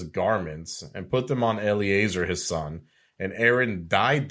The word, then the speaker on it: Eleazar: Am I pronouncing that correctly? Because sometimes you. That's actually Eleazar, his son.